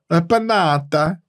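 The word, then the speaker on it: Panatta: what's up panata uh panata is they're Italian so that's how you say it properly they need to make aith yeah the closest thing they have to that is the panata Dual handle it's not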